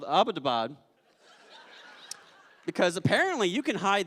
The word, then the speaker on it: Abbottabad: it she was like yeah and it's not pronounced about a pod I was like why do you say it she was like it's Abbottabad I was like okay that's why we couldn't